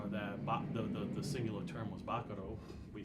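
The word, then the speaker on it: bacaro: It's actually pronounced Baccaro, but But everybody everybody says here, Baccaro. they call it Baccaro, so we keep it as Baccaro.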